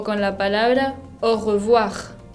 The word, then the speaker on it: au revoir: Primero lleva la A con U, que se pronuncia O, y después la O con I, que se pronunciaba UA, si se acuerdan.